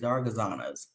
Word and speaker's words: Zaragozanos: Oh, that's how you say it, Zaragozanos.